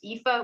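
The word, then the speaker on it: Aoife: spelled a o i f e and it's pronounced ifa which is a plot point so everybody hesitates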